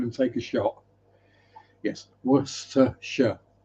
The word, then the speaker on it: Worcester: I mean Worcester I kind of get because there are letters in there that you wouldn't pronounce, but there is a Worcester in America that is pronounced Worcester.